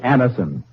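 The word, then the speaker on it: Anacin: Next time you have a headache or neuralgic pain, try Anison.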